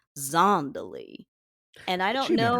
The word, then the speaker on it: Zandalee: They also can't decide how to pronounce Zandalee because Tari calls her Zandalee, but Nick Cage calls her Zondalee.